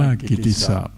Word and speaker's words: กิตติศัพท์: ราชศัตรู อ่าน ว่า ราชศัตรู กิตติศัพท์ อ่าน ว่า กิตติสะ พระ เจ้า ศรีจันทรา ที่